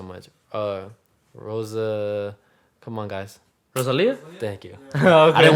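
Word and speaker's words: Rosalía: Rosalia? Thank you. Okay. I didn't want to say her name wrong.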